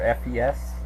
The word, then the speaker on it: FES: Uh how do you pronounce it? Fez or FPS? I don't know. But it's Fez stands for festival.